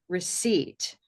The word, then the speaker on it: receipt: And this allows us then to talk about the silent letters that are like this one right here, right? Receipt, receipt.